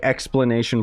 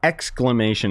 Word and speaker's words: exclamation: they've also added explanation I always say explanation points it's exclamation it's just a pronunciation thing that I've always had